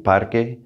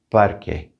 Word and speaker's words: parque: want to point out that q u in there in parque that's going to have like a k sound parque parque and edificio building these